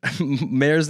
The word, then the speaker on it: Merced: Merced. I looked up a pronunciation right before this.